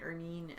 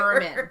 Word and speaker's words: ermine: name, she's like Ermine, Ernine, and blah, blah, blah. But yeah, it's your cabin. I looked it up because I wasn't convinced that was how it's pronounced. It's either. Ermine, right? ERMINE. Yes, and it's the weirdest damn